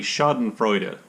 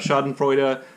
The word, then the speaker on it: Schadenfreude: you love that word right now would be schadenfreude that's my best german pronunciation of schadenfreude which essentially means taking pleasure at someone else's